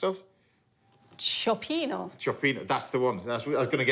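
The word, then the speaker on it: cioppino: Anyway, what's it pronounced of? Chopino. Chopino, that's the one.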